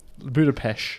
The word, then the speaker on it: Budapest: Budapest. Because that's how That's the proper pronunciation of how Hungarians say And it's it.